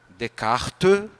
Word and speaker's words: Descartes: Pensador chamado Renê descart quem me ensinou foi a Noémia não sei se ela tá aí hoje né decar é assim se escreve Descartes né que disse assim